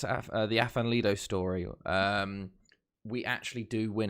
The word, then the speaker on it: Afan Lido: and I settled on Afan Lido, or I think the correct pronunciation is Avan Lido, I think.